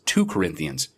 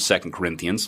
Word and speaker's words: 2 Corinthians: Christian would ever make because of the pronunciation of second Corinthians like every other two-part set of books in the Bible is always second and not to I live my life